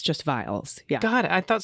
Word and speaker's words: viol: music for violas damba or viols pronounced oh vials okay vials um I guess